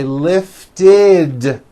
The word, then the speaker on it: lifted: or a D sound we add the ending ID which is a vowel I followed by a d which is voiced ID so for example the word lift lift ends with an unvoiced T lift so today I lift the ball yesterday I lifted the ball lift becomes lifted and remember in the